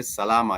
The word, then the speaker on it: salama: And then I would respond and say salama. Yesterday we learned the word salama, which was our word for yesterday, salama. And it's rather not difficult to comprehend or remember. This has 3 syllables: sa, la, ma.